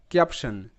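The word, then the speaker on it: caption: Next ক্যাপশন, CAP, ক্যাপ, TION শান, ক্যাপশন, ক্যাপশন। তো এখানেও TION এটা একটা প্যাটার্ন যার উচ্চারণটা শান হয়, তো এখানে টি স হিসেবে উচ্চারিত।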